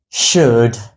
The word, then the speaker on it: should: this word it is should the L in this word is silent and I many times